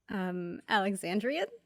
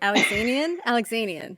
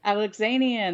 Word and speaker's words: Alexanian: How do you say Ethan's last name? Alexandrian? I don't think Nope. That's right. Alexanian. Alexanian. There we go.